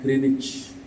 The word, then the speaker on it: Greenwich: namanya itu observatory of something Center di Gresik Greenwich dosanya Bridge Hai tapi dibacanya Rich di situlah anu pak pusat observatory